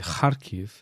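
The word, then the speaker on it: Харків: Et la ville s'appelle Kharkiv et pas Kharkiv.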